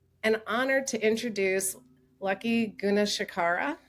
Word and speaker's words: Gunasekara: So now I'm delighted and honored to introduce Lucky Gunasekara. Did I pronounce that correctly? It's Gunasekara, but that's okay. Okay, my last name is equally as difficult, Holst-Knudsen, No.